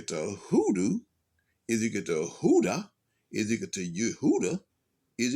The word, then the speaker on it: Hoodah: And then Hoodah, it emerges when Yehuda or Judah is spoken in Spanish, since the J sound is pronounced like an H.